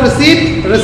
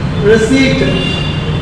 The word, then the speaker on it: receipt: Have you got the receipt? Receipt. Quotation, silent letter. So you need not to pronounce that.